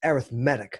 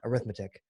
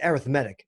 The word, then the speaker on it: arithmetic: sequence here's an example by the way it's pronounced arithmetic not arithmetic it's arithmetic as an adjective alright what's the next term